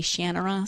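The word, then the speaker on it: Shannara: his shanara series shanara shanara again I don't know how he pronounces it I grew up pronouncing it in my head shanara the Audi book narrators all say shanur so you know I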